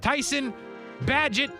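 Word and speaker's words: Tyson Bagent: and they put in Tyson badget I believe is how you say his name is what I was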